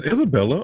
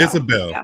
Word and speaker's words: Isabelle: you were just saying is Isabelle is Isabella or Isabelle am I making isab Isabelle okay got it sorry I don't know why I was trying to add an extra syllable to your name um I'm interested for